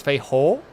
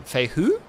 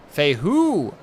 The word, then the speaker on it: Fei Hu: So it's Fei Ho? Or Fei Hu? Second one, Fei Hu? Hu? But drag it down. Hu. Fei Hu.